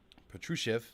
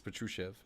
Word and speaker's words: Patrushev: to nikolai plus sheriff uh patruchev sorry it's patrushev i know this guy